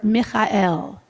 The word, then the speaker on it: Michael: to your right for Mikel and we'll do sort of the Hebrew Hebrew pronunciation of Michael so try Mikel M on your left